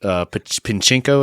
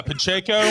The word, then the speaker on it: Pacheco: Isaac Pinchenko, as you referred to him. Yeah, Pacheco. Have you learned how to pronounce his name?